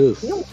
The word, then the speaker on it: Aphelion: Aphelion.